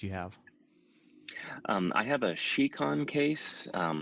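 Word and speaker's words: Scicon: of buy case you have I have a shiquan case it's spelled s CI Co n so lots of people pronounce its icon according to the manufacturers now it's chic on and what's really nice about this case that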